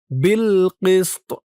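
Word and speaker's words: بِالْقِسْطِ: সাকিন হওয়ার পরে এই তোয়া কিন্তু কলকলার হরফ হয়ে যাবে, লাস্টে একটু ধাক্কা খাবে। আপনারা খেয়াল করুন আমি কিভাবে উচ্চারণ করি। বিল কিস্ত, বিল কিস্ত, এভাবে উচ্চারণ করবেন।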